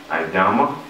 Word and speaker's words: Idama: guest in the house this the lovely Empress idama am I pronouncing it correctly bless blessed love correct okay